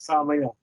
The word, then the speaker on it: Samael: Samael. Right? That's good enough for me. Yeah, there you go. You got it. Samael.